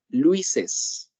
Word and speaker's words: Luis's: La pronunciación en este caso va a ser Luises.